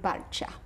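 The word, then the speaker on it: Balcia: How do you say it? Victor and Balcha.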